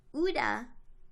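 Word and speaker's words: Ouida: But the woman's name was Uda, which you spell Ouija O-I-J-A. Her name is spelled... Oh, sorry. So you spell Ouija O-U-I-J-A. Her name was spelled O-U-I-D-A.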